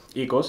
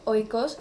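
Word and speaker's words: οἶκος: Bueno, nosotros pronunciamos el diptongo omicron iota y, como lo hacen los griegos, vaya, desde hace muchísimos siglos. Aunque hay otros que lo pronuncian oikos o ikia.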